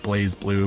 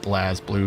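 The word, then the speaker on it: BlazBlue: glass blue is good i know it's pronounced blaze blue but i'm always going to call it blast blue because that's how it's spelled yeah i've heard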